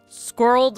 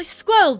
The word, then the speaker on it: squirreled: Squirreled only works in American accent. I squirreled it away. Squirreled. That's still one syllable.